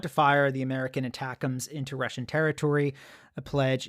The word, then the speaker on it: ATACMS: so um number one it took me a while to work at how to pronounce this attacks until I read the article VI I oh that's how you pronounce it because I was like looking at this acronym thinking how on Earth do you pronounce This Acronym so attacks make sense um and as you